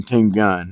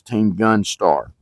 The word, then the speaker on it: TeamGunStar: The reason I'm redoing this intro is because I got his name wrong. I got his channel wrong. I was calling him Team Gun. It's not. It's TeamGunStar.